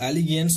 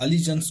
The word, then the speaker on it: allegiance: सो यहाँ पर आप प्रोनाउंसिएशन का भी ध्यान रखेंगे, इसको एलिगेंस नहीं बोलेंगे, अलीजेंस बोलेंगे।